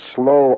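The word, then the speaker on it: sloe: Slavic cheekbones and the slow eyes that's spelled s-l-o-e the slow Berry you've heard the term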